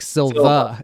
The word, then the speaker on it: Silver: terry terry and it's silver with an er but he the way he pronounces it sounds like silva yeah i looked it